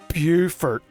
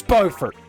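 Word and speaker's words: Beaufort: Buford, South Carolina. Everyone knows it's Bowfort. I don't care if it's based on the French pronunciation. That makes it fancy.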